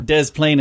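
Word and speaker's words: Des Plaines: planes illinois yeah yeah a lot of silent s is going on there dez plain as is yellow noisy 1955.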